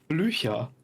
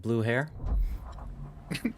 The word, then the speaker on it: Blücher: Blücher. Blücher? Like blue hair? No, it's not blue hair. It sounded like it when you just said it. Or blue here? No, it's also not blue here.